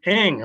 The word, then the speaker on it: Ng: It's Ing, like there's an I in front.